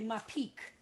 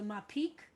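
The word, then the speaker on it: mappiq: it's a the uh the dagesh that's in the hay there gets pronounced it means the hay is pronounced and it's called a mapique when the dog when there's a dot in the head like that it's called the my peak cantonemy will correct me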